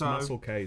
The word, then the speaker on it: Muselk: It's pronounced Muscle K, Sam. Muscle K.